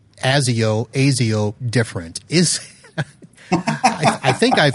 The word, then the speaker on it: Asio: I think everyone says ASIO different. Is I think I've asked this before of somebody and they didn't know. Is there an official pronunciation? There is. It's with a Z.